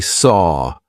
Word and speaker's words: saw: So actually, saw feels like it should rhyme with door, right? It's the same sound.